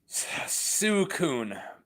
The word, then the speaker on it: Suicune: How do you pronounce the water legendary dog or cat or whatever, legendary beast? Suicune, but I never know.